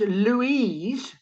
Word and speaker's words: Louise: This word can be pronounced Louise, female, or Louis, male.